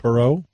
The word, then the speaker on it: Perreault: Perreault Oh Thursday night no how do you pronounce it right Perot Perot and did I get it's not Mathew